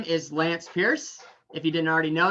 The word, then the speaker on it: Pearce: And so, yes, my first name is a weapon and my last name is, if it's spelled P-I-E-R-C-E, is what that weapon can do to someone or something, right?